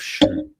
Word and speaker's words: Xi: Is it not she?